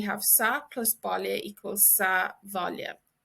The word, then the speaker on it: sa bhaile: But in this instance, we have sa plus Baile equals sa bhaile. Sa bhaile. And this BH is pronounced like a V.